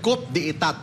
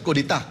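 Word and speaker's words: coup d'état: spelling na kudita sorry Cop de itat but not kudita citat kasi a French word French word yan but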